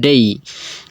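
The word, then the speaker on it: day: আমরা সাধারণত বলে থাকি যেমন ডে কোনো শব্দ নাই, ডে অর্থ দিন, এটা আমরা মনে করি, কিন্তু ডের উচ্চারণ সঠিক উচ্চারণ হবে ডেই।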